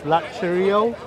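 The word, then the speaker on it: λατρεύω: Latrio. How you say it? The U becomes a V when it's when it has a vowel after.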